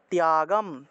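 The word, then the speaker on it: ত্যাগম্: থাকে তাহলে সর্বকর্ম ফল ত্যাগম ত এর সাথে জ ফলা তাহলে তীয় উচ্চারণ হবে ত্যাগম ত্যাগম ত এর সাথে জফলা থাকায় ই এবং অচ্চারণ করা হয় অর্থাৎ ত্যাগ শব্দটাকে ত্যাগ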